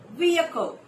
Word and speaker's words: vehicle: It's vehicle with three syllables. Vehicle, and not vehicle or vehicle.